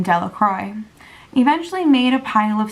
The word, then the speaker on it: Delacroix: Bobby and Harry Jones and Dickie Delacroix, the villagers pronounced his name Delacroix, eventually made a pile